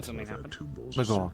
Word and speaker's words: Lagor: Did I pronounce that right? Lagor, yes.